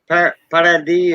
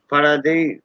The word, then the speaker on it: Paradis: And I think it's before, like, say, if you're coming from Paradis and Boutique, Paradis, they call it, it's spelled paradise without the E. Paradis in French.